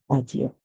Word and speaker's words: audio: Audio. So audio is a word that rhymes with studio because they have the same ending sound.